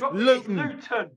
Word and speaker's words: Luton: So we pronounce it Luton. We drop the T. Yes, Luton.